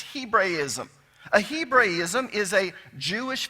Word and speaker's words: Hebraism: You've heard it Hebrewism, but the correct pronunciation is Hebraism.